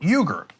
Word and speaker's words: Uygur: My family's last name is Uygur, but we are not Uyghurs. What? So in America, we normally pronounce it Uyghur for the Turkic people living in China. So, but the Turks pronounce it Uygur.